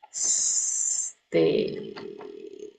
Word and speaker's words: stage: Eh, I still mm stage ch-nya belum begitu jelas. Stage stage. Ah, there you go.